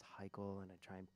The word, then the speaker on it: Hikele: People pronouncing it, just constantly hearing, "Oh, the next song from Hikele," and me going, "No, it's Hikele, sorry."